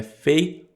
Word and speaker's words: faith: Um detalhe de pronúncia aqui também, que é importante, é que muita gente confunde fé com rosto. O que eu quero dizer? Fé é faith, faith, faith, faith.